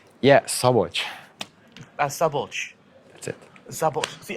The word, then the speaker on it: Szabolcs: It's a very difficult word for me to pronounce as an English speaker. The SZ is a that's it. Yeah. Szabolcs. Sabo. This is the hard part. Szabolcs.